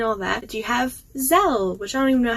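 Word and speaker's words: Zelle: know I explain all that do you have zel which I don't even know how to say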